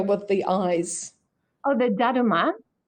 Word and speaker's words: Daruma: asking how do you spell it? The Uh, the the little figure with the eyes. oh, the daruma. Dadima.